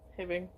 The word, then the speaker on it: Hibbing: All right, so I picked Hibbing Hibbing. because it rhymes with tribbing.